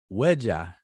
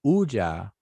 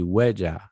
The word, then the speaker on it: wedja: that is the word wedja people say ooja but it's actually wedja you know that w is on the front but they they people just don't pronounce that w it's actually jason and